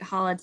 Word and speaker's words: challah: to find a really delicious," I'm gonna not pronounce this correctly, challah.